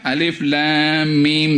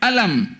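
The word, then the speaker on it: الم: mereka para sahabat mendengarkan nabi baca Alif Lam Mim dalalikal kitab tak dibaca alam dalikal kitab jadi dengan demikian Quran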